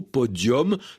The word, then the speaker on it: podium: du XXe siècle et il a gardé un accent latin avec un U qu'on prononce comme un O, podium, prononciation ancienne de cette langue latine qu'on va retrouver dans d'autres mots, podium, forum, décorum, sérum, etc.